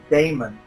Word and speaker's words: daemon: different ways uh and we pronounce it as Daemon um to kind of differentiate the idea of demon but I I do